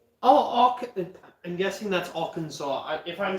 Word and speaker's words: Arkansas: No, Arkansas. Oh, I'm guessing that's Arkansas.